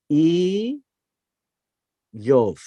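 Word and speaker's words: איוב: this is his name here EOS and it's pronounced as e yof now the word job or the name job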